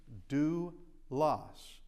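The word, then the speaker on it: δοῦλος: Remember this is a dip thong and it's the ooh sound. So delta omocrron oopsilon is do loss due loss and that means a slave or a servant.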